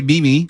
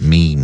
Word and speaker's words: meme: Some people say mimi or me. No, it's meme.